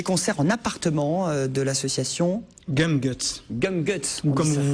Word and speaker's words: Gumguts: a pas d'ocitane non ça serait plutôt prononciation à l'anglais si on veut oui